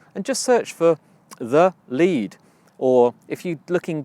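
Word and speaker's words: lede: It's called The Lead. Lead is spelled L-E-D-E.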